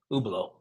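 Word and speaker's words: Hublot: do you spell that you how do you spell that oblo yeah it's h u b l o t ubo okay I think you I think you mentioned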